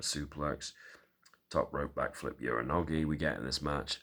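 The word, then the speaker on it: Uranage: Uranogi we get in this match. And yes, I did pronounce it right.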